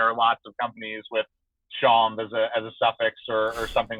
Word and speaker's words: chanvre: It's so chanvre. Chanvre is the French for hemp. Okay. Chanvre. So it's like Sean with a VE at the end, and the R is kind of silent.